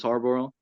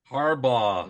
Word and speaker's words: Harbaugh: Abe, he loves Harborough. Harbaugh. Mhm. Stop saying it wrong.